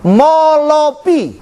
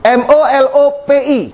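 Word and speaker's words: μώλωπι: kalau dalam bahasa aslinya disebut molopi m o l o p i bacanya gitu tulisannya bukan bukan gitu tapi baca bahasa yunaninya gitu bacanya seperti gitu kalau karakternya beda karena karakter Yunani itu kayak karakter orang bat asli itu bapak ibu Haleluya bacanya molopi kalau jamaknya apa molopsi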